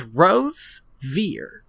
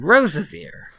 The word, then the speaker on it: Rosevere: Um also, we've been pronouncing his name wrong. Is it not? It's Rosevear. And we've been saying Rosevear.